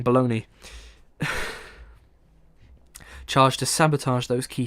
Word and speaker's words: Bologna: Pikney and his men were to parachute into the mountains around the northern Ital Italian city of Bologona. I think I pronounced that wrong. Bologna charged to sabotage those key supply routes.